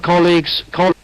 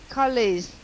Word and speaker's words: colleague: the chat box cook the pronunciation it's a very funny spelling but the pronunciation is easy only two syllable call e col e colag e colleague am I right no you're not giv it's a g g call eag call E like egg but not egg EG